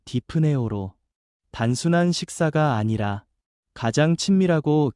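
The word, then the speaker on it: δειπνέω: 먹는다라는 헬라어 발음은 디프네오로 단순한 식사가 아니라 가장 친밀하고 깊은 교제와 화평을 상징합니다.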